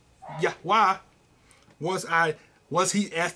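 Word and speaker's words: יהוה: there the the word 3068 which is yod vah or yahwa not J there's no J there anywhere in sight okay it is also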